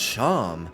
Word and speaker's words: Sharm: The name Sharm, pronounced charm.